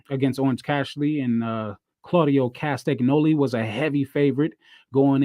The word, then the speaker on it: Castagnoli: Castagnoli.